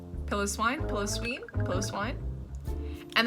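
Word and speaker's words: Piloswine: right yeah sure then we have Swinub and pillow swine pillow swine pillow Sween plus wine and then we have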